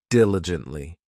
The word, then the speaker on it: diligently: This adverb has 4 syllables, and the stress is on that first syllable, diligently.